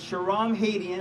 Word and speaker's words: Shahram Hadian: will you please remember my name it's Sharon Haitian I promise you won't have to spell it but I am compelled to run for